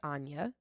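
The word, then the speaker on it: Áine: I N E and it is Irish it is pronounced Anya and it that is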